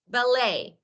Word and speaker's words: ballet: a kind of dance that is ballet T is not pronounced so we don't at